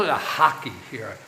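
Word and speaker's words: rack: And he bought uh they call it a hockey here. R A C K. Hockey they pronounce it.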